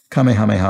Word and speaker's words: Kamehameha: struggle with this comic kamehameha sorry i think i mispronounced that earlier i might have put two k's in it kamehameha i might have i'm